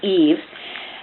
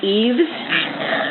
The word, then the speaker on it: Yves: want to pronounce Yves the French is correctly pronounced as Eve however we have sort of a cultural mindset that Eve is a feminine name and so there is an alternative acceptable French pronunciation that I think is a nod to what what Americans like and that's Eaves so I'm thinking you